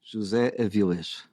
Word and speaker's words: José Avillez: So first, am I saying your name correctly when I say José Avillez? Perfect. Oh, really? It is perfect? José Avillez. José Avillez.